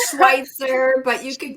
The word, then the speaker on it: Schweitzer: did not ask before this on how to pronounce her last name, but her first name is. It's a tough one. It's Schweitzer, but you can call me Coach.